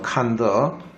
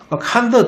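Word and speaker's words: condor: 쉽겠네요 그죠 자 이번에는 콘도르 콘도를 하는 말인데요 칸더입니다 발음은 칸더 칸 더 뜻이 뭐냐면요 얽매이지 않는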